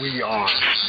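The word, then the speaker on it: Weare: That's spelled we are. W-E-A-R-E, not like where Mass.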